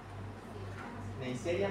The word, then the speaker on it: Neisseria: Neisseria meningitidis y de la produce la gonorrea, Neisseria gonorrea. Así se pronuncia.